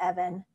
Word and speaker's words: Evan: company a man named evan his name rhymes with dev and it's kind of